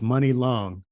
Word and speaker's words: Muni Long: the singer money long i found out that's the way to pronounce it i don't want to say how i pronounced it before but anyway it's money long she turned down a